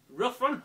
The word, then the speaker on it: Ruffian: in this one and from pronouncing it right it's rough run are referred used by